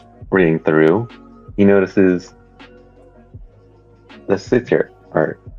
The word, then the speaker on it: satyr: As reading through, he notices the sitter, or how do you pronounce it? Sitter? Satyr?